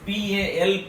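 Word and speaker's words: Pauli: Here children, it is not a PLE principle, it is PAL principle.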